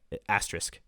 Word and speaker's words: asterisk: Asterisk. The S is before the K.